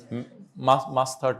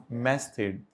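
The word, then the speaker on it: masthead: मुश्किल सा नाम, मास्थर्ड नहीं, मैस्थेड, बाकी प्रोनाउंसिएशन कुछ और हो तो मुझे नहीं पता, हो सकता है।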